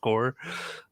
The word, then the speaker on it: Corps: i said like marine corps like because i thought maybe you would know how that was spelled with the ps but it's pronounced core that that would help